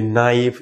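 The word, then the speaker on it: knife: নি, আমরা এটাকে বলি নো, এটাকে বলি নাইফ, এরকম আরো আছে নলেজ, এগুলা কিন্তু কে এন দিয়ে শুরু হয়েছে এবং কেটা সাইলেন্ট করে দিবা।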